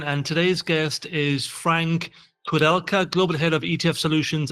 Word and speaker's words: Koudelka: I'm your host Michael Ren and today's guest is Frank Codelka, global head of ETF solutions at State Street.